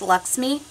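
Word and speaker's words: LXMI: I'm really excited about if you haven't tried Lux me I know it spelled LX M I but it's pronounced Lux me this is analodjica melt they call it it's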